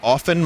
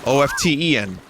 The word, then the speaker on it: often: but it's spelled often oft en noisy stuff I started saying often because people in the stream were upset that I wasn't pronouncing the T and now that I'm